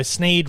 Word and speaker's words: Sneed: So Sneed rhymes with feed and seed.